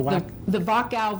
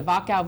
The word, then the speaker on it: Wachau: it for me, The Wachau Valley. It begins with a W, but pronounced with a V. The Wachau Valley.